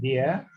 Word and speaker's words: dia: Okay, dear, the same thing pronunciation like D-E-E-R or D-A-R, dear.